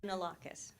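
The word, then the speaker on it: Kounalakis: I'm going to pronounce her name wrong, maybe Konalakis. Did I do that correctly? I don't know. Look at Sandra. Probably Lieutenant Governor of California. Yes. So Konalakis.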